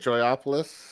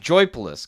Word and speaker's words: Joypolis: Joyopolis or I thought it was is pronounced Joypolis because there's no O in the middle.